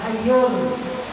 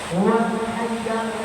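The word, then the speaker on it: الحيّ: Bacaannya astagfirullahalazim alladzi la ilahailla huwal hayyul qayyum waubuai hayyal bukan hayyul hayyal qayyum wa atubu ilaih diulanginya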